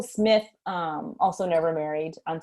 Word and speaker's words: Smyth: married um and actually ethel smythe who smith changing my pronunciation ethel smith um also never married